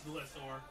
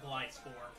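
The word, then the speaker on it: Gliscor: It's Glissor. Fuck Glyscor.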